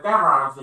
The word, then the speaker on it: garage: 이게 영국 발음으로 나오면 앞에 강세가 있어요. garage 이렇게 되는.